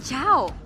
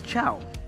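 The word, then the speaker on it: Chou: Mobazane apparently pronounces it as Chow. Oh. Is that the proper... No. It's not? I think because Chow is from China, from the lore. That's why we call it Cho.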